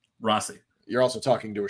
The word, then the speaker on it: Rossi: to be or Rossi he's he's gone back and forth on how he's pronouncing it um are you serious I was always right then I'm going Rossi Rossi here's the thing technically it is Rosie but because Americans have